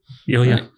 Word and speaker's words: Ilya: Is that Ilya? Ilya.